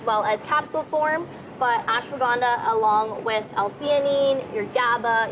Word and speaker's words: ashwagandha: Okay, this one I'm going to need help pronouncing. What do we Yes. got? We got ashwagandha? Yeah, that's good. Okay, thank you. Ashwagandha, yeah. All right, ashwagandha.